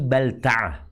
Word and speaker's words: Balta'ah: Penguasa Hatib bin Abi Baltaah. Bacanya Abi Balta'ah.